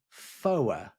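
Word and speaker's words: four: tree instead for becomes for as in to rhyme with lower spell it out fo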